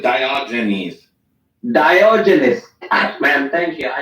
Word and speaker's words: Diogenes: __ ] name Theus in English we pronounce it diogenes diogenis man thank you